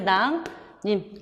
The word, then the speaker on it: 낭림산: 이응 뒤에 리을이니까 비음화, 니은 얘기죠. 그래서 낭림산 이렇게 발음이 돼요.